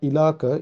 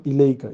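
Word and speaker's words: إليك: So example, if ila is attached to ka, that is anta, it become not ilaka, it will become ilaika.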